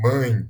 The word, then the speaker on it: mãe: Ou ele pode ser nasal, quando a gente usa também a boca e o nariz para expressar, para falar a palavra, para pronunciar a palavra, né? Como em mãe, mãe. Você vê que vem parte do som, vem do nariz, mãe.